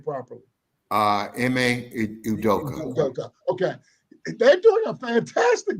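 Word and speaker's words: Ime Udoka: how do you say his name properly uh em udoka okay they're doing a fantastic job down in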